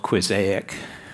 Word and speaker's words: Quizaic: in and I created something called quizaic which is pronounced like mosaic it's available to see